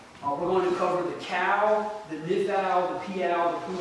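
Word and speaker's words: Qal: But the tense we're going to cover today is called the cow, and it's spelled Q-A-L.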